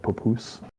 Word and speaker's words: papoose: It's a tactical combat papoose. You said poo-poo. I did not Poo-poos? say poo-poo. I said papoose. You said poo-poos. Poo-poos? It's spelled with an A.